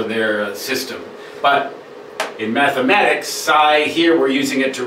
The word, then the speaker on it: psi: These, the angles opposite these sides and corresponding to the vertices, that is a Greek letter psi, psi, pronounced psi.